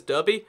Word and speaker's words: Derby: Derby, which turns into Derby, because, you know, that E can be an A.